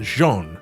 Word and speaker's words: Jean: and for the record, this is pronounced Jean. I get people pronouncing this wrong all the time on Final Fantasy XIV. It's French, you uncultured swines.